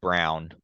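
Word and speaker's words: Braun: they're betting on him Chris Christian Brown I hate that that's how he wants it pronounced but it's literally Brown like it's literally Bron but Christian Brown uh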